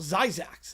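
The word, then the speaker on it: Zzyzx: Zyzax is how it's pronounced.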